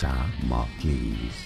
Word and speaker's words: Damocles: Damocles. Stress on the first syllable in the dance.